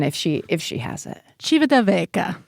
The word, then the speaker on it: Civitavecchia: So let's hear the correct pronunciation if she has it. Civitavecchia. Civitavecchia.